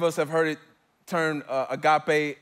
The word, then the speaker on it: agape: Many of us have heard it termed agape. It's agape. It's how it's pronounced.